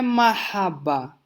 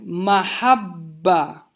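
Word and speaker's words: محبة: Amor não é mahabba, é mahabba. Percebam o shadda. Então, assim, melhora a pronúncia se a gente der atenção para esse detalhe.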